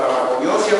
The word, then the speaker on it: farmacognosia: Y ahí estamos señalando la farmacognosia, por ejemplo, por si acaso la G con la N se pronuncia ella, no vayan a pensar que es una grosería.